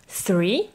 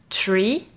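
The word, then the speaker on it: three: Alors attention à la prononciation du chiffre 3 qui se dit 3 et pas tree, car là tu parles d'un arbre, ou encore moins tree.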